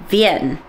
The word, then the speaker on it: Wien: and is that that we say Vienna but in German they say ven did I say that right ven ven but it's spelled w i n so V or vener is viones so it looks like weener to us but that's not how it said and it's gotten a